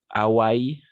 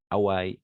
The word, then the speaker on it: Hawaï: soft d'accord et Hawaï d'accord en français on ne prononce pas le H parce que le h